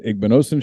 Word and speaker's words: Igbinosun: into the very first edition of the igbnossen show presented by the college corner first as someone who has his name mispronounced all the time did i do that